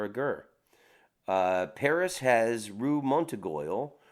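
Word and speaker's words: Montorgueil: Paris has Rue Montegoyle, pronounced Rue Montegoy.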